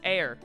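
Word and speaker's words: heir: And then I was like, how do you pronounce air? Like, you know, H-E-I-R. And he pronounced it without the H. And I was like, oh, so sometimes you don't use the H in the word, even though it's at the start of the word.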